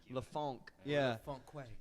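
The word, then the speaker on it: La Fonque: a wait f o n q u e lafonk so you go to an artist and you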